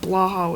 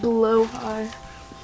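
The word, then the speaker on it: Blåhaj: I got Blaha with me or Bologna cuz I've named him that. And also technically you're not technically it's not pronounced blah. It's pronounced blowhai.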